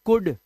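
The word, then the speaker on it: could: सकता है अब देखो अगर सी ओ यू एल डी तो ऐसे केस में जब भी क्या करते हैं हम एल को साइलेंट रखते हैं और हम इसे पढ़ते हैं कुड कुड ओ यू को ओ यू को छोटे ऊ की मात्रा और एल डी को सिर्फ ड कुड कुड मतलब होता है सका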